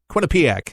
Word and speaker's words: Quinnipiac: What a recent Quinnipiac, that's how you say it, 30%.